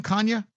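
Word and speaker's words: Canha: Kanya.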